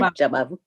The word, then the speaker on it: Jabavu: I might mispronounce this, and so we can go back. Jabavu, that's fine. Jabavu.